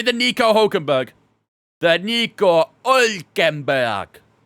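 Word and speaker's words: Hülkenberg: The Nico Hulkenberg. I think that's a bit too much pronunciation on the H there, maybe.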